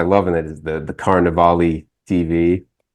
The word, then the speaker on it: Carnevale: Carnevale, like definitely pronounce the E at the end.